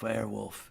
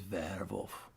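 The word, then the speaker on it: Werwolf: verbwolf werewolf their wolf it's not werewolf it is verwolf isn't that isn't that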